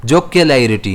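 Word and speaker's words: jocularity: इसे हम प्रोनाउंस कैसे करेंगे? जोक लाइिटी। अब इसमें स्ट्रेस कहां आएगा? एल पर आएगा।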